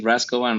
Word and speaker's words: Raschkovan: Anyhow, your last name to me is impronounceable. Tell me about what it is. My last name is Raschkovan. Raschkovan is from Besereva or something like that.